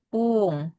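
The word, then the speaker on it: ぷん: Kalau misalnya puluhan yang belakangnya 0 berarti pung.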